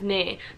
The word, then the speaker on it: nee: No, like Just say nee, and I think it's spelled N-E-E.